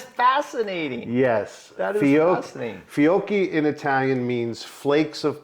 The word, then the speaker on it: Fiocchi: It's pronounced Fiocchi, okay. Fiocchi. Just think of gnocchi.